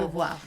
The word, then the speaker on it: Beauvoir: But to Never actually know how to have pronounce her name. Simone de Beauvoir. De Yeah. Beauvoir.